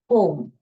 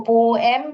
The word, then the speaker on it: poem: पोएम, पोम। Okay, इसको पोएम भी पढ़ते हैं मगर पोम इज the right pronunciation.